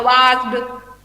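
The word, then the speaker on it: watched: वॉच में क्या होगा वॉच्ड ओके डॉ साउंड नहीं आता है ये टॉ साउंड आता है सो आज से ईडी वाला साउंड को टॉ साउंड प्रोनाउंस करना ठीक है ओके ठीक है मैम.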